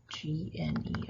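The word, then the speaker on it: gneiss: layered rock right here this is nice GN d is s silent G so this has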